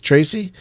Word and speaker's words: Tracy: I keep saying Treese. Mm-hmm. It's Tracy. Like okay. Yeah. I kept mispronouncing their name.